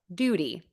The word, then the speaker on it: duty: the American pronunciation of Duty I actually say a flap T here which I teach as a quick D sound I think that's a